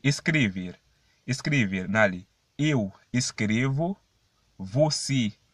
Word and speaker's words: escrever: Et pas escrevi, me veut dire non, c'est escrever, mais escrever. Mais gens qui me prononcent là quand elle sorti, comme si c'est i, mais pas i non, c'est escrever. Escrever.